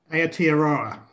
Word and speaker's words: Aotearoa: And now, correct me if I'm wrong in pronouncing this, Colin, it's Aotearoa? Aotearoa.